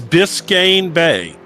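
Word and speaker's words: Biscayne Bay: It's Biscane Bay in It is in Florida. It's Biscane Bay. It's spelled uh Give me that.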